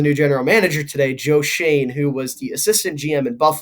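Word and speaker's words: Schoen: this is funny story i pronounced his name joe shone and when i did that i got a comment and it just said shane and i clicked on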